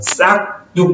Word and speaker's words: 싹둑: 싹뚝 보세요. 기역 받침 뒤에는 뒤에 예사소리가 된소리 나는 일반적인 자리죠. 그러면 굳이 표기로 된소리를 표기하지 않는 것이 맞습니다. 그죠? 그래서 싹둑이라고 써놓고 싹둑이라고 읽는 거죠.